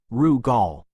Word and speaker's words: Rugal: He knew that Marcus as always had already sent their report back to the Rugal estate pronounced Raul, ensuring their findings and theories were safely recorded.